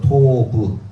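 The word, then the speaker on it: טוב: 자, 이거 읽어보세요. 이게 바로 티귿이잖아요. 티귿. 그 다음에 이게 와우에 오 있는 게 오 발음입니다. 오 발음. 그리고 비읍이잖아요. 베이트. 그래서 토부 이렇게 읽게 됩니다.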